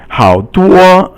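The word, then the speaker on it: 好多: 好多, 好 is third tone, and 多 is first tone, and it means a lot.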